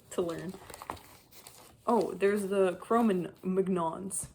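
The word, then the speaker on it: Cro-Magnon: Oh, there's the chroman Mcnons. Chromanons, that's how you pronounce it, from southwest Europe.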